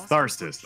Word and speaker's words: Tharsis: Is it Tharsis? It's Tharsis. Okay. Finally, I know how to pronounce it. It seems Tharsis.